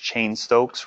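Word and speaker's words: Cheyne-Stokes: increase the ketones there the next one is pronounced chain Stokes respirations and so chain Stokes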